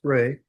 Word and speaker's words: Rey: 2019 CR 9790 state versus Sonida Sonida Luis Ray Sonida is it Ray the last name? Yes, I thought I was pronouncing Miss Snider Ray.